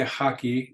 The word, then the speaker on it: hockey: but because we say haki you're going to pronounce it as if it were that hard J sound in Spanish la natacion El volleyball